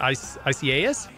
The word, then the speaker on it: Isaias: However you pronounce it, Isaias? It's three syllables.